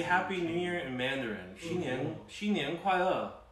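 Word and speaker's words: 新年快乐: Xin nian kuai le, right? Slow and good. Right? You got three languages. Just making sure. Checkers over here. Xin nian kuai le.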